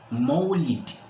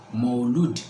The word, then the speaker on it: Maulid: To start with, most people mistakenly pronounce this as Maulud Nabi. When you say Maulud, it means the child himself. But when you say Maulid, it means the period in which the child is born, which is what we want to discuss here.